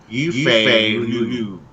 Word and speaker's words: Yifei: And you how to pronounce her name? Yifei.